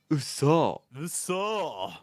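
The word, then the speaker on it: 嘘: uh so we have the pronunciation is a little bit different but it's important like so when you want to say like no way it's like Uso good but then if you're just like kidding it's kind of like a little bit more higher pitching you'll be like oh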